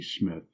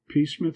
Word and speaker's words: Psmith: The name is Smith. P. Smith. Pith, sir? No, no. P S M I T H.